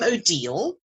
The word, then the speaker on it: Odille: absolutely hello everyone I'm odal and to remember how to pronounce my name if you think of Deal or No Deal is the way to remember it and I've been on